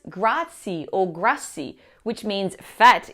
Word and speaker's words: grazie: Italian it has to be pronounced for example gra is not pronounced grai or grai which means fat in Italian and